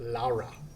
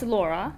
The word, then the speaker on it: Laura: Did I say it right, or is it Laura? Depends. Laura? Are you saying it in English? It's Laura.